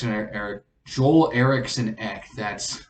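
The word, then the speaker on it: Eriksson Ek: by lankin and then joel x eric joel erickson ek that's how you say his name puts it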